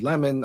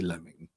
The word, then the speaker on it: Lemon: They said Lemon, I say Lemming.